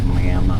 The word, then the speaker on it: Miami: Now, Miami is spelt like Miami, but from what I've been told, the Indian pronunciation is Miami, which means sweetheart.